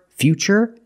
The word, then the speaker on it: future: That's right, it's ch, because we see T-U-R-E, we pronounce the T as ch, and we see T-U-R-I in futuristic. Again, the T is pronounced with the ch sound. So the first word, future, and the second word is futuristic.